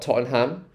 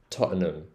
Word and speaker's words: Tottenham: the ham um but it's not Tottenham it's Tottenham Tottenham so Totten Toten um Totum um so it's like an um sound at the end there so Totum Totum in the Indian accent